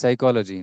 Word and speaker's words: psychology: are silent isn't it like psychology know p is silent in that so you write